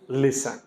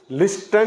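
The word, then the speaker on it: listen: बन जाएगा ये ऑन एल आई एस टीई एन लिसन लिस्टन नहीं पढ़ेंगे इसको गलती से लिसन N eighty C एच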